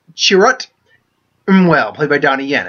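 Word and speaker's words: Chirrut Îmwe: we have and his her name is pronounced she wrote em well played by Donnie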